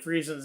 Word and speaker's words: Friesen: ultimately didn't do and say it sounds like free since this day just went